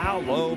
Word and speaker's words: Lowe: which right or wrong, but spelled the same. Right. L-O-W-E. One was Lau, one was Low. Never could figure it out. Well, this one's low.